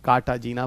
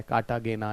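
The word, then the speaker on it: Cartagena: और यहाँ पे कार्टाजीना प्रोटोकॉल कहाँ है, कार्टागेना या कार्टाजीना, अलग अलग जगह पे अलग अलग प्रोनाउंसिएशंस भी हैं।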